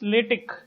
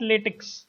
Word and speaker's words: LaTeX: Okay, so the pronunciation is LaTeX. It's not LaTeX, and it is basically a tool which helps us to write the technical documents.